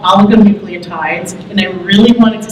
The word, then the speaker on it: oligonucleotides: ASOs are also called oligonucleotides, and I really wanted to say that because it took me 5 months to learn how to pronounce that correctly. So they're known as oligonucleotides, antisense oligonucleotides, that's the ASO part that you